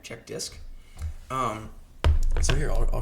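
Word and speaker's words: CHKDSK: errors so I ran check dis which is spelled uh c h k dsk all right check dis um so here I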